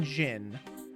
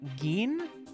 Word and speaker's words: Gin: Because, like, I'm assuming these are all, like, Japanese pronunciations, so it's not Jin. It would be Gin?